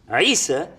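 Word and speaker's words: عيسى: His name in Hebrew is pronounced Isha or Yeshua, and it's Isa in Arabic.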